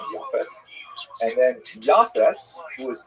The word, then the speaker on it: Yafes: And I should pronounce that by the way in the Ash pronunciation. Yafes.